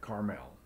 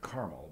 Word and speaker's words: Carmel: Now, summon the people from all over Israel to meet me on Mount Carmel. We pronounce it Carmel, but over there in Israel they call it Carmel.